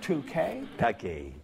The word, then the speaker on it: Takei: smart strong and sexy did mr 2k rhymes with okay that's right consciously set